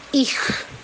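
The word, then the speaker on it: Ich: es hanya ada c&h itu dibacanya Hok seperti ho ya dibaca KH ya kita contoh kalimat contoh katanya adalah Ih jadi bukan icj ya tapi ih ya dan untuk yang Sule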